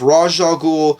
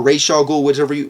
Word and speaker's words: Ra's al Ghul: She's the daughter of Ra's al Ghul, or Ra's al Ghul, whichever way you want to freaking spell it out, and she is a deadly assassin